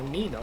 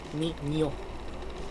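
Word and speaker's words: niño: It's it's exactly the same when Americans go, oh look, it's Nina or Nino. No, it's ni ña, ño, ni ño.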